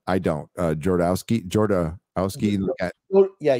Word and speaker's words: Jodorowsky: And you pronounce his name right. I don't. Jodorowsky. Yeah, Jodorowsky.